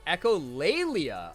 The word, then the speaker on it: echolalia: has so much glass it's pronounced echolalia oh okay interesting oh